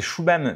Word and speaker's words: Shubham: Alors c'est Shubham no code. Alors Shubham, ça ne s'écrit pas du tout comme ça s'entend du coup.